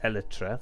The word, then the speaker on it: Elytra: I mended my shears, I mended my Elytra, that's it, Elytra, that's how you pronounce that.